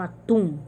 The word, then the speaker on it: atum: Às vezes ela não é acentuada como atum, mas se você for pronunciar atum, o tum é mais forte, então é a última sílaba.